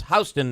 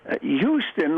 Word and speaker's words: Houston: Houston was a guy in Texas. Houston was a guy in New York. They got nothing to do with each other. So that's why it's pronounced differently.